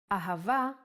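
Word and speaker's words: אהבה: it in both ways when hay appears in the end of the word it will always sound as ah ahava is love in Hebrew let's try to write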